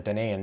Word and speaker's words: Danaan: Some places write it as Danian, but I don't think that sounds right to me.